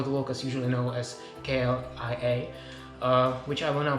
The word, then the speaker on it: KLIA: By the way, the airport is, for the locals, usually known as KLIA, which I will now pronounce Klia because I don't want to break my tongue.